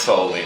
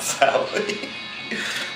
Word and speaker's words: Sowley: A lot of people call me Sowley by my last name, and it's pronounced Sowley, not Sowley.